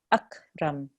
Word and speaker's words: أكرم: We don't want to make a jerking sound on this kaf. It's akram. أكرم. Good. When we have a qaf, that's a qalqala letter, so we make a jerk there. Iql. But on the kaf, we don't make a jerk, so it's just akram.